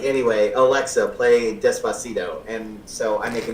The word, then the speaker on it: Despacito: the end it'll be like, anyway, Alexa, play Despacito. And so I make a meme about it and I say, Alexis, play Pistachio. Because I don't say Despacito right. I usually call it Despacho, which is wrong.